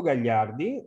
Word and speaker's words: Gagliardi: programs in europe again my name is gallardi that's how you pronounce my last name it's kind of complicated